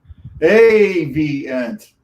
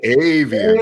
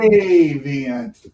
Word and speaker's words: Avient: Avient. All right. Ooh, avian. Avient. The accent on the V.